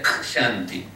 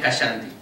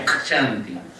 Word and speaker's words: Kshanti: La K se tiene que pronunciar Kshanti. Sin la A, porque no es Kshanti. Es Kshanti. Y ya está, es sánscrito.